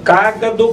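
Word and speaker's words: cágado: Olha bem, cagador com acento no ar, na primeira sílaba, viu?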